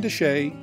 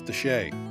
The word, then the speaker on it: de Chelly: road leads to Canyon desay National Monument it's spelled Chelli but trust me it's desay it's the first of